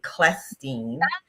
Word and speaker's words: Clestine: So, I always tell people think of a hard k and then it's going to be easy for you to get it. So, it's actually Klestin.